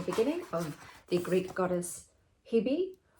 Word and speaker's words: Hebe: of the Greek goddess Hebe, or as Greeks would probably pronounce it, Ivi.